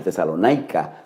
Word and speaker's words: Tesalónica: Pablo le escribe a la iglesia en Tesalónica, o Tesalonaica, como se pronuncia, en el capítulo, la